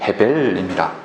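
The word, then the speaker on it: הֶבֶל: 여러분, 아벨도 히브리어로 발음하면 헤벨입니다.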